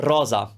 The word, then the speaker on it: rosa: send like special speciales the other sound is similar to the english rose for example the italian word rosa rosa so let's do the